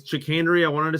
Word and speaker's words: chicanery: I just ask you did you just pronounce the word chicanery as chicken r on purpose I think it's chenry I wanted to say